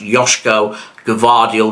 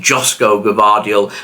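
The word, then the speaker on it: Gvardiol: it is factually correct I think that his name is pronounced yosko gardial rather than josco gardial so from now on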